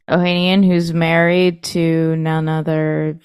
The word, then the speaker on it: Ohanian: Alexis how do you say his last name Ohanian Ohanian who's married to none other than uh what's